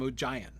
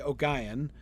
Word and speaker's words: Ogion: He calls him Ogion. And I'm like, okay. Or you could do with a hard G, Ogion, or you could do with a hard G and stressing the first syllable, Ogion.